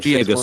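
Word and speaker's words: Giygas: Omni and Gigas are both two syllables.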